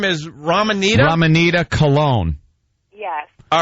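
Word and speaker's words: Coln: obviously what's up well my last name's cologne but it's spelled c o l n so if all hold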